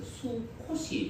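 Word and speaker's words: 숙곳: 이스라엘 백성들에게는 어떻게 사용되어지느냐면 우리는 오늘 본문에 나와 있는 것처럼 숲 곧이라고 읽는데 히브리어를 읽는 방식에는 두 가지가 있습니다.이 수 밑에 있는 기억이 뒤로 넘어갈 수도 있습니다. 그래서 수콧이 될 수도 있습니다.이 이 수꽃이라는 말은 장막들이라는 얘기입니다.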